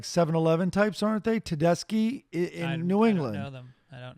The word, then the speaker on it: Tedeschi: According to Brother Wheeze, a radio host in Rochester, New York, it is pronounced Tedeschi trucks. Hopefully, you were saying Tedeschi.